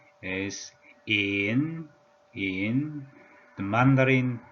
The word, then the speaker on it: 乚: The pronunciation is tone number 3. In.